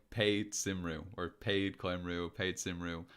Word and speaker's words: Cymru: Okay, Cymru. Cymru is the country. Plaid means party. Grant. Cymru, that's how you And pronounce that. Okay, it's not yeah, Simru then. no. Cymru. Welsh is it's a relatively phonetic language.